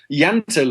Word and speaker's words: Jante: what is a Danish law of jante did I pronounce that right yeah yantai law well it's not an